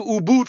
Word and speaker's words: Ubud: But if you guys go to Bali, go to Ubud first. It's spelled U B U D.